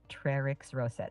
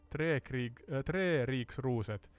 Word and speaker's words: Treriksröset: In Swedish, it's pronounced Treriksröset, which is very close to how you spelled it. Sorry, Sky. We have to agree to disagree. It's Tre Riksruset, or as a so-called Finnswede, at least that's how I pronounce it.